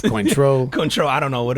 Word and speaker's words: Cointreau: Yep, it's probably not pronounced Cointreau. Cointreau, I don't know what it is. I really don't know, man. It's spelled like coin, right? C-O-I-N? Yeah, it's like coin, and then it is French.